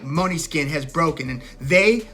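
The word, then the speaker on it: Måneskin: on the radio now money skin this is a rock band from Italy an Italian rock band it looks like they're spelled main skin but I guess it's pronounced money skin but they are kind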